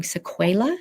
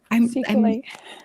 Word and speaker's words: sequelae: COVID, including vocal cord, I'm going to say this wrong, sequela? Is that how you pronounce it, medical humans? Sequelae. Sequelae. Close.